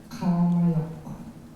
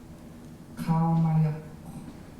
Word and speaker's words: Qaumajuq: And if you don't know how to pronounce it, you could click on it and you'll hear. Qaumajuq. Qaumajuq.